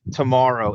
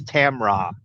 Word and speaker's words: Tamra: It isn't like tomorrow. It's Tamra.